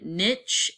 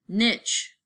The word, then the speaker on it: niche: I want you to say that word niche just like it rhymes with the bad word okay so don't say niche some people say that and it freaks me out so organisms in